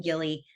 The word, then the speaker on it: Gilly: So people always say, is it Jilly or is it Gilly? Because people pronounce it different ways. And in my mind, she's always been Gilly, like this girl in real life that I've known for several years now.